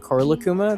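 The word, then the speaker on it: Korilakkuma: Your tattoo of Rila Kuma and Korla Kuma. Did I pronounce that right?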